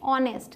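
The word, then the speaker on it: honest: ऑनेस्ट। तो जो पहला लेटर है उसका साउंड है ऑ, अ साउंड आ रहा है, इसलिए आप एन यूज़ करेंगे।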